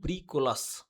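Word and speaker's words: bricolage: এখানে এজি থাকলো এটার উচ্চারণ হবে ব্রিকোলাস।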